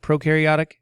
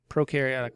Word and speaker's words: prokaryotic: pro and you karyotic prokaryotic eukaryotic prokaryotic means you have no nucleus pro rhymes with no no nucleus prono eukaryotic